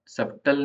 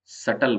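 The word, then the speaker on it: subtle: L silent वैसे ही सटल जो word है उसके अंदर बी साइलेंट सब सबटल नहीं बोलते उसको सटल बोलते हैं अब तलवार जो होती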